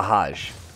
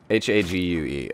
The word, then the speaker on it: Hague: I always look, is it the Hague or the Hajj? Dang it, every time. H-A-U-G-E, pronunciation. H-A-G-U-E, okay. We're playing, so we'll see what that. Okay, so yeah, Hague.